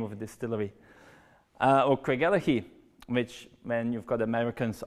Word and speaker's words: Craigellachie: Or Craigellachie, which when you've got Americans asking for the road to Craigellachie, they ask for Craigellachie.